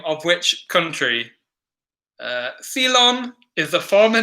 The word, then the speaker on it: Ceylon: name of which country Ceylon is the former name of which country because they seconds Cey LOM it's pronounced something like that sale on sale on Ceylon give the farmer